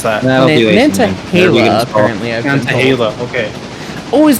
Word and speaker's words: Nantahala: We are not stopping in Nantahala, or however you pronounce that. Nantahala, apparently.